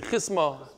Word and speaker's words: chisma: Rebbe Lazar over here, my Gemara says chasama. I don't like it. In Yeshiva, I think we used to say chisma. Chisma, how do you guys say? Chisma. You say chisma. Fine. How do you say it? Chisma. Okay, fine. Chisma. How does Masifta say? So everybody says chisma.